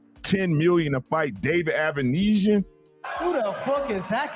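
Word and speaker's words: Avanesyan: David, how you pronounce his name? Avanesian.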